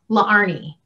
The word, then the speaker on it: Laarni: So my name is spelled L A A R N I the two A's right there used to give people a hiccup because really my name is pronounced LA Arnie.